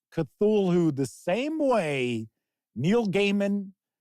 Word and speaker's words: Cthulhu: It is not Cthulhu. And I know that. I know it's not Cthulhu. It's like Cthulhu. It's almost like a cough, sneeze.